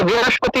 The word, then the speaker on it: বৃহস্পতি: তখন যে বৃহস্পতি, এটাকে বৃহস্পতি উচ্চারণ করতে হবে, বৃহস্পতি উচ্চারণ করতে হবে।